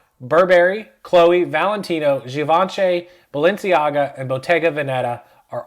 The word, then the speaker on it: Givenchy: Givenchy, of course, is not Givenchy. It's Givenchy.